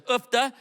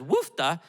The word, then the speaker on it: Uffda: And she uses the term Uffda around our house as two different pronunciations. She says Uffda when something's wrong, broken, needs to be fixed, but then she says woofda when she's cold.